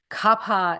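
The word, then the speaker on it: Kapha: kafa it's actually Kapa with an aspirated H Capa is water and Earth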